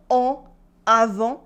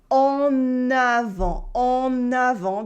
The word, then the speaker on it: en avant: It's not en avant, it is en avant, because the next word, avant, starts with a vowel.